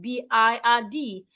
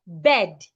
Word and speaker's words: bird: will pronounce this word, B-I-R-D, as bed. No, do not make that mistake henceforth. Because of the R beside the I, the sound becomes longer.